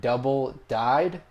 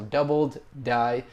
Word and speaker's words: doubled die: very thankful for that I was saying the word double died the actual way to pronounce it and the way it's written as you'll see is doubled die so doubled die that's the what it should be pronounced as but not really a